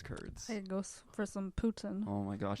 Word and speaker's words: poutine: Poutine. Poutine. Is that the proper pronunciation? If you're a Quebecois. Well, I'm going to say it the non-Quebecois way. Poutine.